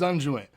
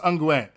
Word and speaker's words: unguent: one day to use unjoint oh it is pronounced unguent yo yo i